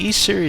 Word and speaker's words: Ys: you would love the E Series yep that's right the E Series now you might be wondering how the letters y and S are pronounced e well don't worry about